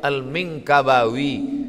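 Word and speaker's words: al-Minangkabawi: apalah cara baca ni Alif Lam Mim Nun Kaf ba Alif wau ya rupanya lama saya baca almingkabawi Minangkabau Syekh Ahmad Khatib alminkabawi nama dia Ahmad Khatib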